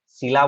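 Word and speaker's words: Scylla: शीला बोलते हैं और इसको क्या बोलते हैं? कैरबिडिस। ठीक है। कैरबिडिस। ठीक है। कैरबिडिस बोलते हैं इसको, और इसको बोलते हैं शीला। तो याद रखना, बिटवीन शीला एंड कैरबिडिस मतलब क्या होता है?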